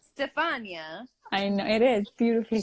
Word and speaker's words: Stefania: Do people butcher your name? Yeah. Really? What do they Stephanie. say? Stefania. Stefania. I could see people saying Stephanie because they Yeah. just are stupid and say it.